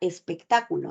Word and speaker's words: espectáculo: en un mismo lugar igual ocurre con la palabra espectáculo no espectáculo el acento siempre tiene que recaer sobre la sílaba ta para que esté asociada a un significado si tú pronuncias espectáculo